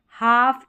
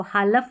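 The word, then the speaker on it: half: में L silent है इसको हालफ नहीं पढ़ते टाल बालक नहीं और कॉलम नहीं पढ़ते।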